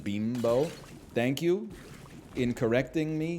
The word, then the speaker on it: Bimbo: up bro bimbo International I swear to you it's pronounced Beano thank you in correcting